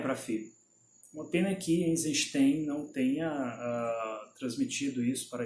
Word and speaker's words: Eisenstein: Eisenstein, não é Eisenstein. Eisenstein. É assim que é escrito no alfabeto cirílico, é assim que é pronunciado em russo.